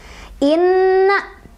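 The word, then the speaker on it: إِنَّ: Inna, ketemu sama gunnah, karena sebabnya ada nun bertasydid, dibacanya, didengungkan 2, 3, atau 4 ketukan.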